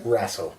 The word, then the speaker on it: Raso: Mike here with Jason, and how do you pronounce the last name? Raso.